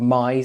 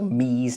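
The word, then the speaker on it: mise: look over here so I use a tool called M or M depending on how you want to pronounce it it's called m i s e and if I run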